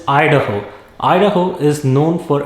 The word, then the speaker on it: Idaho: be in ohio next it is not idaho it is idaho idaho is known for